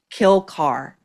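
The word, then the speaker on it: Kilcar: Kill car. It's spelled K I L C A R but it nonetheless is Kill Car.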